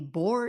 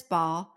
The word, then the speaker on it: Baugh: I looked at multiple ways to pronounce this. It could be Baugh, it could be Bohr, it could be Baugh. So I'm going to go with Chris Baugh, spelled Baugh for anybody interested.